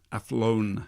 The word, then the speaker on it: Athlone: it's a place called athlone I flown athlone which is I suppose a test for the local people to stay because we have problems pronouncing th's I can't say my